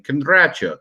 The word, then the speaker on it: Kindrachuk: My real last name is Kindrachuk, or as it's pronounced in Ukrainian, Kindrachuk, which sounds terrifying and vampiric.